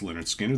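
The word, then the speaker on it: Lynyrd Skynyrd: uh three favorite albums are of course pronounced Leonard Skinner the debut album then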